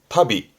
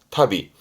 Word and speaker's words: 旅: 발음은 타비, 여행을 의미하지만 혼자 두면 발음은 타비, 타비.